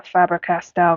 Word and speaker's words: Faber-Castell: should foreign I don't know if I'm a faber-castell girly that's how you say it I like